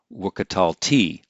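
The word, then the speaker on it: וְקָטַלְתִּי: to the pre-tonic syllable but when we have a while consecutive perfect the accent can be shifted to the final syllable and so we have wikital t now this doesn't always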